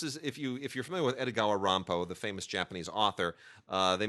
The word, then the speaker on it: Edogawa Rampo: His name was not Edogawa Rampo. That's like the Japanese pronunciation of Edgar Allan Poe.